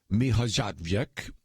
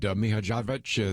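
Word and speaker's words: Mihaljevic: And he said on Friday, I spoke with Tomislav Mihajlovic, and I probably butchered the name, but Mihajlovic, I think, is how he says the name.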